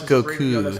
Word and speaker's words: Goku: It is Goku. It's two U's at the end. It's like a double U sound.